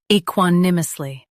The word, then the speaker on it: equanimously: equanimously Now, read the syllables shown on the screen naturally. e quan im us ly equanimously Stress quan and keep ly light.